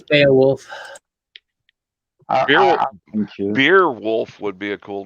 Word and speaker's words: Beowulf: Is it Beowulf or Beerwolf? I pronounce it Beo. Maybe it's Beo. Probably Beowulf. It is Beowulf.